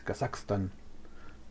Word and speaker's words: Kazakhstan: dice el kazakstan kazakstan nosotros aquí lo latinización pero realmente como lo pronuncian ellos es kazakstan interesante y es como